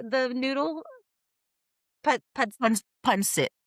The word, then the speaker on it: pancit: Pad, Punsit. Pancit, yeah.